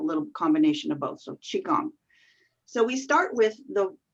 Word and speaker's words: qigong: it's the same however i say i say qigong shigang is kind of a little combination of both so qigong so we start with the two parts of the word to understand what is qigong there's chi the q i the chi part